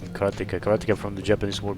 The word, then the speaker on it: Karateka: In Japanese, there's no stress on any syllable, so it would be Karateka, something like that.